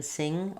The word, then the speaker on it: sing: And we don't have any g in sing or singing or singer.